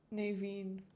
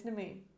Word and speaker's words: Nemain: Okay, let's have a look at Naveen. I'll get her name right at some point. Nemain. Nemain. It's Nemain. It's Nemain. That is how you pronounce her name. It rhymes as well.